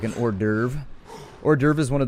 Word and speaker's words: hors d'oeuvre: I know that it's got like an H-O-E-R or something in the front of it, and it says like dover is the second part if you said it phonetically.